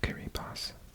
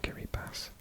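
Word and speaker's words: Kiribati: flag Central isn't it so you got carry pass written Gary party thanks to my subscribers for confirming that that's the pronunciation carry pass one of the coolest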